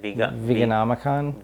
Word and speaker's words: Veganomicon: Veganomicon. Veganomicon. Yeah, that's a mouthful there. It's like the Necronomicon.